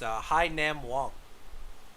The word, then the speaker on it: Hai Nam Wong: Also, the pronunciation of the user that was taken at pick 33. He let us know it's Hai Nam Wong.